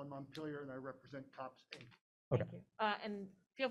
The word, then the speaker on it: COPS Inc.: So COPS Inc. is the preferable pronunciation.